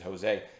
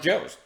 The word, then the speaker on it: Jose: idiot his name is jose but he already told me early on it's pronounced joe's so um that's what